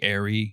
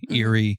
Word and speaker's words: Eyrie: be a mountain top, and Eyrie or Eyrie can be said Eyrie, airy, eerie. There's lots of different ways to pronounce it. I think we pronounce it Eagle Eyrie.